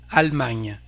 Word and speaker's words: Allemagne: Allemagne, for Germany, Allemagne. Here we don't pronounce this E.